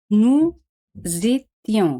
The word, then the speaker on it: nous étions: Éramos, se dice nous étions. Se hace la liaison entre S et E, pero S se pronuncia Z, Z, porque se encuentra en dos vocales, U y E.